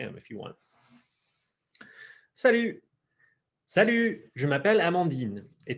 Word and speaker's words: salut: And then, salut. Salut. And again, if you bring your lips forward on that, you'll get that good ich sound, right?